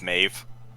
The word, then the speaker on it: Maeve: me on the name to say that it's Maeve yeah she said yeah it's not pronouncing my if it's pronounced Maeve and it's